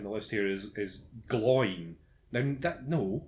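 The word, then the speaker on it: Glóin: Owen and glowing are pronounced o in and glow in with two syllables they're not pronounced a rhyme with coin okay so while I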